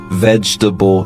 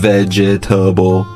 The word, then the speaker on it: vegetable: I guess this word could be challenging because there's four syllables when you look at it, but when we pronounce it, we say it much quicker, so it just sounds like vegetable instead of vegetable.